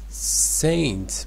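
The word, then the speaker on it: St.: wishes wishes sorry uh Street Bernard Doug yes uh maybe it's saint bernon duck not saint yes it's a short form or abbreviated form of Saint his streat doesn't make sense but we are not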